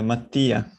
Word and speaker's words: Mattia: And then is it, help me with the pronunciation, is it Mattia? Is Mattia. Mattia. Longer E.